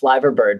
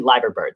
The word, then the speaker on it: Liver bird: out that we were we were saying it wrong so it's actually lager bird so there you go